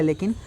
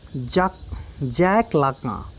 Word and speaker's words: Lacan: जैक लाका, इसको Jacques मत पढ़िएगा, उसको लाकान मत पढ़िएगा, ठीक है। जैक पढ़ा जाता है इसको, जैक लाका, ठीक है। जैक लाका the French fried.